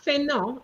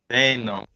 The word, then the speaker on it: fainéant: It's not fainéant. It's 3 syllables, you know. Try again. Un ouvrier fainéant.